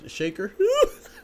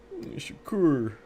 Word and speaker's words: Shakur: They said Shaker. Shakir. Shakur.